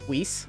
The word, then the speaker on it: Whis: to beerus and lice not not weiss that's not the way to pronounce it but that's how it's spelled thinking of ruby now um whis i think it is beerus and whis